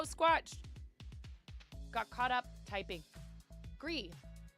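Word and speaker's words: Gris: Gree, pronounced Gree, you were right, is a gorgeous indie game, all watercolors.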